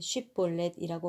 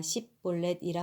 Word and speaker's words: 쉽볼렛: 만약 그가 아니다라고 대답하면 그들은 쉽볼렛이라고 말해보라고 했고 그가 십볼렛이라 말하여 정확하게 발음하지 못하면 그들은 그를 잡아다가 요단강 나루터에서 죽였습니다.